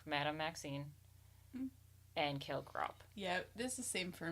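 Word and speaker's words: Grawp: And his half-brother, Grop. Garp. Grop. I say Grop. Grop. I think that's how they say it in the movies.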